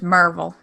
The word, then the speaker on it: Maryville: I say it's like Maryland, but with Ville instead of Lind. You say Ville, so I say Ville. Anyway, I say it like a. If you're from around here, it's Merville.